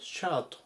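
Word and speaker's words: shirt: んですけども英語だとシャートという風に発音しますで Y シャツと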